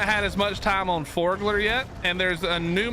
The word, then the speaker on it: Forglar: Forglar, F-O-R-G-L-A-R, I think is how you spell it. Not Fjordglar. I probably did say it like that though, because I love Fjord.